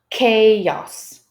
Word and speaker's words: chaos: So if they see that these circled letters are to be pronounced with a K, I believe most of